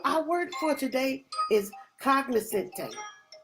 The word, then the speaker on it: cognoscente: So our word for today is cognoscente. Cognoscente, that has 4 syllables, so that means that we're going to clap it 4 times, we're going to snap